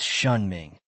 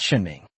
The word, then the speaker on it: Shen Ming: "It's Shun Ming." "Shun Ming, not Shun Ming." He emphasized the pronunciation and Ji nodded without saying anything more.